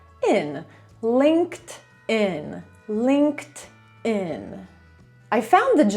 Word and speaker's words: LinkedIn: To będzie w ogóle oddzielny odcinek, ale ta firma, jej prawidłowa wymowa to LinkedIn. Linked, no bo tutaj mamy po prostu końcówkę ed in Linked in Linked in I found the job on LinkedIn.